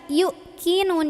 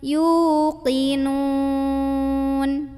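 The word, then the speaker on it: يوقنون: dan pernah juga denger yuk nya dibaca yuk kinun yuk kinun yuk ditekan gitu Padahal kalau ini wow wow sukun yang tadi baru yang di atasnya ada Hamzah yang dibacanya hamzahnya kalau ini enggak ada Hamzah enggak usah ditekan tapi dipanjangkan 2 harokat yuk yuk yuk linun yuqin gitu coba kita baca ya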